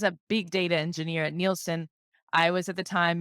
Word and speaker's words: Nielsen: Am I pronouncing that properly? Yes, Nielsen.